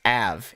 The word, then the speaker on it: Av: got captured by a oh it's pronounced it's just AV it's not a it's just a they